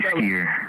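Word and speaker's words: Sketer: It's your boy Sker. How do you spell it?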